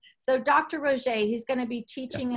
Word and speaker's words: Roget: Am I pronouncing that correctly? Roget.